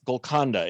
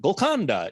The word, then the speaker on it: Golconda: Yes, it's Golconda. It's not Golconda. There's those. You know how the emphasis is on certain syllables.